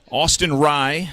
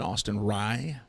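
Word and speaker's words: Austin Rei: Austin Rye at the plate. Last name spelled R-E-I, pronounced like rye bread, Austin Rye.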